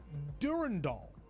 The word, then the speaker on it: Durandal: other times s uh some oldtimers who we must respect more uh pronounce it Durand Doll. Durandall.